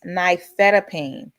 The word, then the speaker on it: nifedipine: The generic pronunciation is nifedipine.